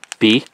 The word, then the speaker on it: Bake: Alright, it's time for Bake Matcha. And it is, indeed, pronounced bake, because that says beigu.